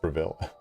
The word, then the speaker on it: Bravil: Um, it's pronounced Braville.